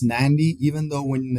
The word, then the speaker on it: Nadi: It is pronounced Nandi. Yes, it's pronounced Nandi, even though when it's written it's Nadi, Yeah. But in Fiji that D is sort of pronounced with an N in front of it, so it's pronounced Nandi.